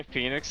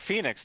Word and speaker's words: Phoenix: You ever wonder why Phoenix is spelled stupid? Huh? Like Phoenix, the word Phoenix. With the O before the E. Well, yeah, like what? You don't even say the O in the word.